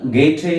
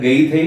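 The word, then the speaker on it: Goethe: എഴുത്തുകാരനാണ് ജോഹാൻ ഓൾഫ് ഗാം ഗേറ്റേ എന്നറിയപ്പെടുന്നത് സാധാരണയായിട്ട് ഗൈഥേ അല്ലെങ്കിൽ ഗോയ്തെ എന്നൊക്കെയാണ് നമ്മൾ എഴുതുന്നത് പക്ഷേ ഗെറ്റ് എന്നാണ് അദ്ദേഹത്തിന്റെ ശരിയായിട്ടുള്ള ഉച്ചാരണം അപ്പൊ അദ്ദേഹത്തിൻറെ ഒരു പ്രശസ്തമായ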